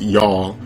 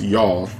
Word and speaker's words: Youghal: and he said uh his city's name is pronounced y'all like it's y 0 ugh al where did he go